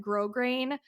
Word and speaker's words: Grosgrain: Grosgrain is a great one. It's spelled like gross grain, GROSGRAIN.